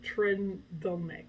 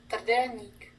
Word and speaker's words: trdelník: Republic in general, that's absolutely delicious, is the trdelník. I don't know how to say it exactly. Let's go to Google for that. Yeah, so I sort of messed it up. This is how you pronounce it. Trdelník.